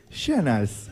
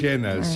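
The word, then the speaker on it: Schön: La O tiene diéresis, hay que aclarar eso. Que mi apellido tiene diéresis en la O, entonces la O cambia por E en la pronunciación en alemán.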